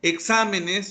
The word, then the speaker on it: exámenes: Por ejemplo, exámenes, su sílaba tónica es sa.